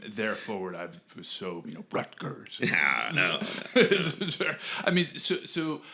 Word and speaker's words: Rutgers: I was working at Rutgers. And the way that I said it, he was like, I could tell you're from back east, you don't pronounce the T.